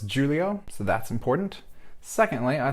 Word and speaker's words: Xulio: It's not Xulio, it's Xulio, so that's important.